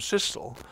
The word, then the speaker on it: Cecil: said, "My dear Cecil, there's one point in favour of pronouncing it that way, your way, namely that trestle has really no other rhyme. Whereas thistle has whistle, epistle and gristle."